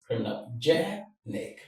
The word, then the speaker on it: criminogenic: This is how the stress works like this. So remember what the rule states. When you have any word that ends in IC, just go to the syllable before the one ending in IC.